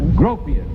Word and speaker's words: Gropius: Gropius rhymes with copious.